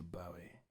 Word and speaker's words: Bowie: you guessed who quite mr bowie and that rhymes with zoe yanks not bowie what about me but